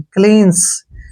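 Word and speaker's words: cleanse: उच्चारण हो गया श और ई का उच्चारण हम कभी करते ही नहीं क्लींस क्लींस क्लींस क्या होता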